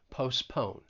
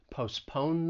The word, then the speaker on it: postpone: to and postpone i i think often people are not going to pronounce that t it's going to be a silent t postpone postpone the meeting and then